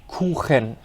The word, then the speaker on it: Kuchen: You really have to go for this sound of throat cleaning that a lot of people do in the morning, okay?